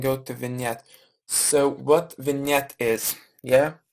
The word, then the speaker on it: vignette: to vignette so what vignette is yeah it's it's pronounced like that I know it's weird so when yet is